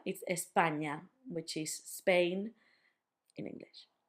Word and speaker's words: España: now, just remember that the ñ sound is basically the sound in your English lasagna. So, lasagna, for example, we say the main word that we have in with that ñ is España, which is Spain in English.